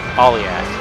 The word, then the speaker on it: Aliak: Aliak is how you say it.